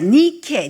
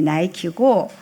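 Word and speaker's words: Nike: 니케의 영어식 발음이 나이키고 그 그림 한번 볼까요?이 이 나이 어 예 조기 이제 마라톤 파란색이 이제 바닷가예요.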